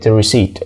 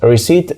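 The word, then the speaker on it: receipt: زي انت اكيد عارف كلمه ريسيت ريسيت مش بننطق حرف البي فيها يعني لو جيت تكتبها هتكتبها وكانك يعني سمعت حرف البي لكن لما تيجي تنطقها ما تقولش حرف البي هي ريسيت ريسيت فبكل بساطه المقطع اللي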